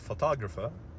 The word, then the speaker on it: photograph: So in photograph, the stress is on the first part. However, when we add ER and it becomes longer, the stress shifts, so it is photographer.